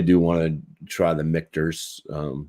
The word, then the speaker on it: Michter's: I really do want to try the Michter's rye at some point. Mitchers, whatever the hell it is. Mittler. I don't know. You said it right the first time.